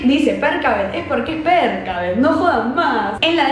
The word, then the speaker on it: Percabeth: y cómo pronuncian ustedes, Perkavet o Persavet. Es Perkavet, chicos, no, basta, cerremos la discusión porque además ellos en las entrevistas dicen Perkavet, ya está. Si Rick dice Perkavet es porque es Perkavet, no jodan más.